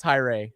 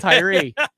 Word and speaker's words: Tyree: caught another pad now his last name looks like it should be pronounced tyrae but it's tyree we're gonna go lukewarm